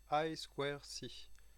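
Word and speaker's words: I²C: i de ses skis se prononce en anglais aïe square si ce but c'est quelquefois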